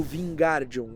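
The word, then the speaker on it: Wingardium: leviossá, mas na realidade o que ele fala errado no livro é o gar do Vingardian. Aí a Hermione fala para ele: "O gar é longo e pronunciado".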